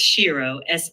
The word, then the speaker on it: Sheroe: They can go to Twitter at Everyday Shiro, our corporate account, and it's spelled everyday, and then it's a take on hero, but it's Shiro, SHEROE.